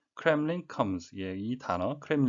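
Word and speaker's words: Kremlin: 발음에 유의 하셔야 겠는데요 크 램 블 린 이 아니고 크렘린 이 되겠습니다 러시아 정부를 지치 가는데요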